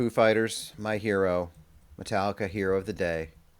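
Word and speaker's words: Hiro: Ben Folds 5 because Hero is spelled H I R O and it's Japanese man's name so it doesn't really count but it kind of counts because it's pronounced like Hero.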